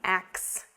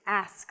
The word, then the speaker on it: ask: you a question but the pronunciation of ask should not be ax it's ask let me ask you a question i want to ask you something it's not ax it's ask ask yeah this one again